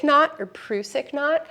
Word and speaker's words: Prusik: So there is a Prusik knot or Prusik knot, how do you pronounce that? I say Prusik.